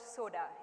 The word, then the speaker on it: Soda: It's called Soda, S-O-D-A, the soda you drink. It's pronounced exactly in that manner.